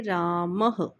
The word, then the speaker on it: रामः: और यह ह का उच्चारण देते हैं हमें। इसका उच्चारण होता है ह। तो इसको बोलेंगे रामः।